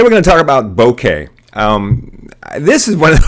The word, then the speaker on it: bokeh: do you pronounce it I pronounce it bokeh Accent on both syllables Bo que bokeh bokeh it is not bouquet I know that that's